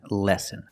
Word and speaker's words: lessen: risk of heart disease pronunciation lessen so we see these two words are pronounced exactly the same lesson and lesson with the short sound e like bed and Tin eh but